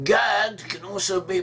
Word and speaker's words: Gad: In biblical Hebrew, the name Gad can also be pronounced as Goth. The A becomes an O sound, and the Dalet is pronounced more like a La.